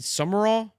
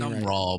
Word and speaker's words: Sumrall: They're getting pissed at us too because we're pronouncing summer raw incorrectly. We can't do anything. Some raw, but it's it doesn't Oh, some raw. Just Some raw, not summer all.